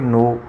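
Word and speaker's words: know: उसके बाद नो देखो के एन ओ डब्ल्यू इसको जो प्रोनाउंस करेंगे तो उसको करेंगे नो और शॉर्ट हैंड में लिखेंगे एन ओ नो।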